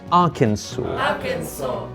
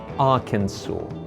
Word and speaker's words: Arkansas: is pronounced Kansas however this American state is pronounced Arkansas yes you're not dreaming Arkansas Asia is the home of the Bengal tiger